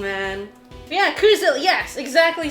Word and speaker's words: Coozilla: Oh, but yeah, we do C-double-O. Yeah. Like moo, but with C instead.